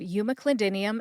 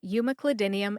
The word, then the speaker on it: umeclidinium: counseling section let's review we talked about the pronunciations of Yuma clidinium and in Cru ellipta today I broke both